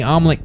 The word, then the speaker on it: Amleth: the chest the two die and we see omelette carried to valhalla roll credits nailed it i